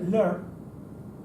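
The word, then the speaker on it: leabhar: ejemplo, yo qué sé, lear, que se escribe leabar con el BH, que es el libro, que dices tú, vamos, a nadie se le ocurre que se puede pronunciar lear.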